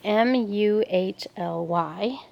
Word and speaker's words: muhly: It's a muley or mully. I'm not sure how you say it. It's Muhly.